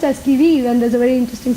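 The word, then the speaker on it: qui-vive: So it's pronounced as Kiviv, and there's a very interesting story behind it.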